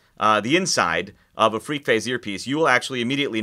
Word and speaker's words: FreqPhase: have seen something called freak phase a new tech te ology by JH audio it's spelled fq phase freak phase and if you've read